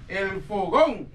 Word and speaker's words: El Fogón: El Fogón. But for you to say it properly, you need to try to say it like El Fogón.